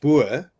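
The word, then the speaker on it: Boer: well the the word bur as a racial slur towards Africanis. Obviously, we don't care. So, so I mean, if you call me Abur, that's how you pronounce it.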